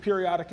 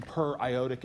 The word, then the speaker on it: periodic acid: so that's acetic acid periodic acid is probably the wrong pronunciation per iotic acid might help you see that's per iodate per iodate like per